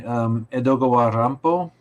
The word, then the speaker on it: Edogawa Rampo: In the horror vein, I don't know if people are reading Edogawa Rampo.